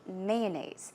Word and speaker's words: mayonnaise: I say mayonnaise. So, I put stress on the first syllable.